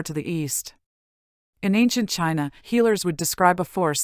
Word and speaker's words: qi: Thousands of miles away in ancient China, physicians and philosophers came to believe that every living thing was animated by an invisible force known asqi.